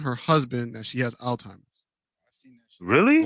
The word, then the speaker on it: Alzheimer's: Alzheimer's. Yeah, Same shit. pronounce the Z, please. Oh, my bad. Alzheimer's. I thought it was Listen. called old timers.